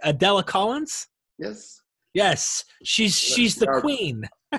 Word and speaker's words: Adela Collins: Collins is his spouse, and correct me if I'm pronouncing this correct, Adela Collins?